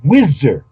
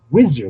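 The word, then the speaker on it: Wsir: it is a concept Osiris written correctly wizer some people say or assar hakeim pronounced it wizer like with a wz and said it was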